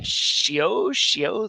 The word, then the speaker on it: Seow: We are going through our next session in Seow, that's the right way to pronounce it, Seow's grammar.